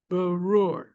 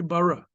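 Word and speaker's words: בר: They're both pronounced the same way, bar. You wouldn't say bara. You never say ra, by the way.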